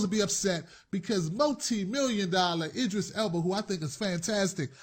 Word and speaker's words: Idris Elba: Excellent movie with Idris Elba.